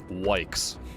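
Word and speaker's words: Wykes: Look, not being able to turn fast enough, Adam Wykus, or Vicus, how do you say that last name? I'm wondering now. Wikes. Sort of like yikes, dude, but it's wikes.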